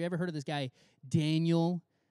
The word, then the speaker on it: Daniel: heard of this guy daniel not like spelled in you'll pronounce danielle but like his name is actually daniel uh there's a whole